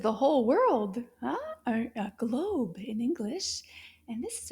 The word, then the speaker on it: globe: Can you find the O sound in globe?